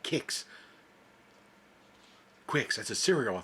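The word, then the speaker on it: Qix: Pacman kicks you know for years I called it Quicks I was pronouncing the que I didn't no idea you're supposed to pronounce it with like K kicks Quicks that's a cereal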